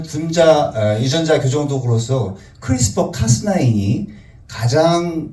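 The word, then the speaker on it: CRISPR: 왜냐면 예전에 1세대인 징크핑거라든가 2세대의 탈렌과 이제 비교되는 개념으로 크리스퍼 카스나인이라고 저희들이 설명을 드릴 수가 있겠는데 가끔 우스계수리로 자꾸 크리스토퍼라고 이제 어 발음하시는 분이 계신데 크리스퍼 카스이 되겠습니다.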